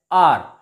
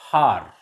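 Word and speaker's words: hour: vowel sound for example h o u r here the word r in this word are h is silent so it is pronounced as are not har honest not honest h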